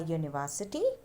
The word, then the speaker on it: university: Before a word which starts with a vowel but has the sound of consonant, as a university, as a 1 rupee note.